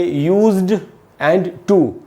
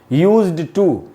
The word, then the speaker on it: used to: को हम इसको बोलेंगे यूज्ड एंड टू, यूज्ड टू। ये दोस्तों करेक्ट प्रोनाउंसिएशन नहीं है। यहाँ डी से ट बनेगा, यूज्ड, यहाँ लिखा है मैंने यूज्ड और टू, ऐसे इसको बोलना है।